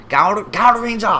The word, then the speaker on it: Gaoranger: We have Gaoranger. Gaoranger? Is that how it's announced? Gao. Gaoranger? Gaoranger. It's like you're meowing.